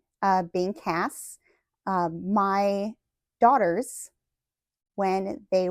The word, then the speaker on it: Cass: she could not say Cass and she could not say Cassie she could not pronounce that hard C so she called me